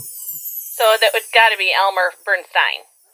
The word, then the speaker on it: Bernstein: So that would be Elmer Bernstein. Nope. It's the other way around. Elmer pronounced his name Bernstein. Elmer pronounced his name Bernstein.